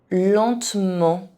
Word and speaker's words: lentement: Justement. Lentement. Here, the consonant N doesn't count because it is part of a nasal vowel and it isn't pronounced like a consonant.